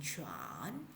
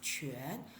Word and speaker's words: quan: I don't really pronounce in chuan. I pronounce it as quan, which is closer to a sound.